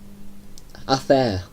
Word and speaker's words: hacer: Now, in Spain, they pronounce it like I did, hacer. But in, say, whether they speak Spanish, I think Brazil, they'd pronounce it hacer, like the C. Like, more of an S, I suppose. Hacer.